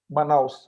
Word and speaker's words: Manaus: It's really lovely to hear, because when this strain came, particularly in, how do you pronounce it, Manaus? Manaus, yes.